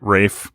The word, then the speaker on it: Ralph: He pronounces it Rafe. Wraith Fiennes. Wraith. It's not Wraith. Wraith. Maybe for one of our Halloween. Rafe. Wraith. Rafe. Wraith. No. Rafe. Wraith. No. There's an F sound at the end, not a T.